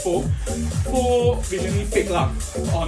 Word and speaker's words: faux: So what happened is KFC today, 27th August, in USA, created a new menu of pho, F-A-U-X, pho, pronounced as pho.